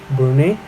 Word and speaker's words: Brune: Cuando Brun le preguntó, creo que lo estaba pronunciando mal, es Brun, no, es Brune no es Brun.